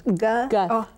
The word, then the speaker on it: Guth: Guth. It's actually originally like a German-Swiss word, gut, and it can be with or without the H, but the English spelling is Guth with the H, like Guthrie.